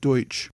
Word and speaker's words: Deutsch: as the Pennsylvania Dutch Dutch being a mispronunciation of the word Deutsch the colony of Delaware